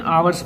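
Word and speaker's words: hours: देखो इसको हावर्स लिखा रहता है लेकिन आवर्स पढ़ा जाता है, एच इसमें साइलेंट होता है, इसलिए ओ जो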